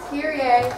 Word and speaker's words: Kyrie: And they're pronounced Kyrie, not Kyrie like the basketball players. Kyrie.